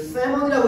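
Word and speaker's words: salmon: 그 그 세먼이라고 읽지 그 얘들아 l은 아마 이제 발음이 안 되지 무음이지 연어지 연어 세먼 그 얘들아 근데 우리 대서양을 뭐라고 하지?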